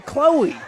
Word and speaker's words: Chloe: Well, and Chloe rhymes with blowy, so the lyrical gears are spinning.